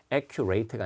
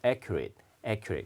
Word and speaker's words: accurate: 그다음에 이제 도표를 보면은 지금 어떤 시작 시간이 더 이상 요거 발음 여러분 정확한이라고 할 때 accurate 아니에요. accurate 이렇게 발음 많이 틀리니까 accurate가 아니라 accurate.